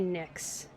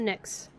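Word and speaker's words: Pnyx: I bet the P is silent, so I'm going to say Nyx. A group of men has assembled in the Nyx.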